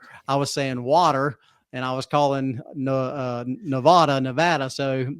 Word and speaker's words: Nevada: Yeah, and I remember being in the MTC, and I would pronounce Nevada as Nevada. Mm-hmm. And they said, a missionary says, he said, I promise you'll be saying Nevada here pretty soon.